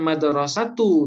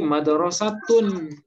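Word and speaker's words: مدرسةٌ: sementara kalau madrosah misalnya ini Madrasah ini bacanya bukan Maduro satu tapi madrosatun kenapa tanwin karena dia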